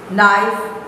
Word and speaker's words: knife: the next stage pronunciation silent k the k is not pronounced repeat after your teacher nat please don't say knack case silent neck no knee knife kneel not listening and